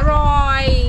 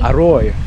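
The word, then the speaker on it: อร่อย: Aroy. Aroy.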